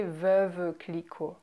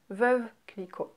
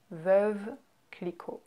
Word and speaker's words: Veuve Clicquot: Next, you have Veuve Clicquot. Veuve Clicquot. Veuve Clicquot. So you can hear how we slur words very much. We don't say Veuve Clicquot. It's Veuve Clicquot. Veuve Clicquot.